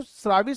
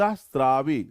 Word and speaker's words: स्रावी: से परली बता रे ये तो शराबी शराबी क्या है भाई श्रावि ये सही प्रोनाउंस करें हमने कहा नहीं अंत स्रावी सेक्रेशन वाली ग्रंथि कृष्ण का